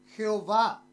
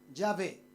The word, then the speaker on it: Yahvé: Jehová. Las 4 letras, ¿cuáles eran? Normalmente, ¿cómo lo pronunciamos? Yahvé. Por la versión Reina Valera del 60 decimos Jehová, ¿sí o no? Pero normalmente es Yahvé.